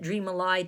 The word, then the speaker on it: dreamily: warn you that because it should be dreamily to our ears but the we pronounce that dream allied to get the rhyme I'm starting over a